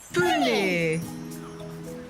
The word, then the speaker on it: pune: Let's all say the word together, and then you can try and spell it. Pune.